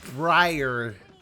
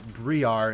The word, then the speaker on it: Briar: a weird one because we're looking at Briar not Briar as I pronounced it in the last casual Champion review in